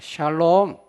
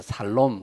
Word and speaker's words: 샬롬: 샬롬. 어떤 할머니가 발음을 잘못해서 살롬 그러더라고요. 살롬. 죽을 놈이 아니고 살롬.